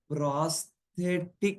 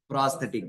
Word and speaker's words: prosthetic: Okay, one more um wrong pronunciation will change the meaning. Okay, it's called as prothetic group meaning. Okay, what is it called as prosthetic group?